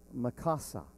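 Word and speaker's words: מחסה: and to take cover the actual pronunciation of this word Mikasa and it means shelter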